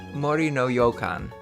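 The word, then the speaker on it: もりのようかん: Forest Manor are homophones both are said mari no yokan by the way apologies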